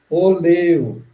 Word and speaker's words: oleo: Ó, veja bem, é uma palavra que é quase igual à nossa, a não ser na pronúncia, porque é oleo. Para nós é óleo, né? Em Esperanto é oleo, porque toda a pronúncia é paroxítona.